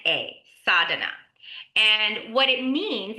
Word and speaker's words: sadhana: So the one the thing I wanted to talk about today is called sada and it's spelled s a d h a n a sada and what it means it's a Sanskrit word that basically means our spiritual practice.